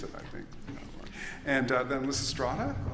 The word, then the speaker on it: Lysistrata: And then Lysistrata, also, or Lysistrata, I think it's better pronounced, and now The Gospel of Mary Magdalene.